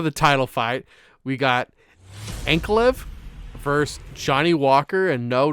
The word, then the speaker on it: Ankalaev: The last one got, I think it was ruled a no contest because Ankalaev, is that how you pronounce it? Ankalaev? Ankalaev.